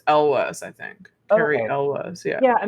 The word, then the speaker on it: Elwes: literally just looked it up I think it's Elwes Elvis okay Elvis I think I think it's like Elvis but Elvis oh okay okay I always said Yules but that's not a I think it's it's Elwes I think okay yeah I mean that probably